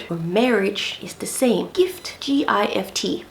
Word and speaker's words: gift: Gift, G-I-F-T.